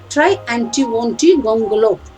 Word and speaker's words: Triantiwontigongolope: Try, Try anti wonty, try anti wonty gongolop.